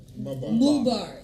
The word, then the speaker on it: Mubarak: We got Mohammad Mubarak in the building. Did I say it right? Mubarak.